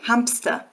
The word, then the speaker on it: hamster: But now if you actually say hamster to yourself, maybe you hear it when I say it, hamster. There's a P in there that we don't write.